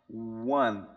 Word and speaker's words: want: Então, esse T no final ele não vai ser e pronunciado de uma forma forte. Então, porque às vezes a gente eh acaba caindo no erro, né, de falar want, want, mas só que e esse som aqui não é o som que